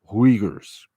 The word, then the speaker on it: Uyghurs: as uyghurs u y g h u r whigers it is pronounced that way so we won't have any